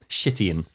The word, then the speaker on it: Chitian: It's spelled CH, but it is with a soft sh sound. Chitian.